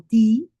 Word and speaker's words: die: Cuando yo digo ti, digo una i larga, no digo tie, que mucha gente la oigo decir tie, no tie, no. Esa e no se pronuncia.